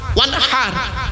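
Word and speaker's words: وانحر: ওয়ানহার এই গলার ভেতর থেকে হেটা উচ্চারণ করবেন, ফাসাল্লি লিরাব্বিকা ওয়ানহার।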